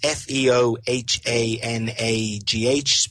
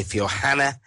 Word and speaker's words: Feohanagh: Now, I can't pronounce that, but it's Feohanagh. Maybe people can say it better than I can. I'll say Feohanagh, County Limerick.